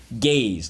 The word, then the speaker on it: gaze: Yes, because in this case, the silent E makes the A say A.